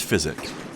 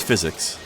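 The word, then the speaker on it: Physick: And I'll give you the correct pronunciation. It's called the Flask of Wondrous Physic.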